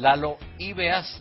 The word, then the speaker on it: Lalo Ibeas: Oye, y a propósito de experiencia de vida, ¿qué dice tu pololo, Pamela, que es, para pronunciarlo bien, Lalo Ibeas, ¿no es cierto?, de Chancho en Piedra, por todos conocidos.